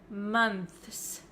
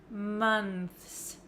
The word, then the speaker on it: months: fifth month month however this one also has an S at the end that's really difficult to pronounce right we can pronounce this word as months months if you want to say the th sound clearly plus the S and that is really difficult for some English learners but I will give